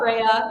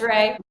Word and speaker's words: Rea: We've got viomedspa.charlotte, and then we've got viomedspa.rayfarms, and Ray is spelled REA. Okay. For anyone wondering, not Rhea, it's Ray.